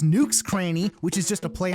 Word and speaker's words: Nook's Cranny: but listen you dummy his store is actually pronounced nukes cranny which is just a play on the words